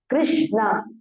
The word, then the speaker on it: Krishna: Krishna, the word Krishna is made of two syllables, Krish and Na. Krish, like this, Krish, Na. Both are half only.